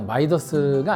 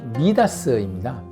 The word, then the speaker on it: 미다스: 근데 원래 발음은요, 마이더스가 아니고 미다스입니다.